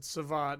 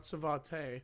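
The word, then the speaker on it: Savate: And um yeah, that's that's how you pronounce it. Savat, not Svatee.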